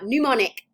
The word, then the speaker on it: mnemonic: Mnemonic devices. The M is silent.